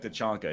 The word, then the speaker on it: T'Chaka: It is like it's T'Chaka, I think. T'Chaka. Okay, there you go. Yeah. But they say it like T'Chonka in the movie.